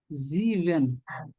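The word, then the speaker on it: sieben: এর উচ্চারণ হলো জে এর মত জ এর উচ্চারণ জেক্স জেক্স হুম জিবেন কেন জিবেন জিবেন এক না আহ এর উচ্চারণ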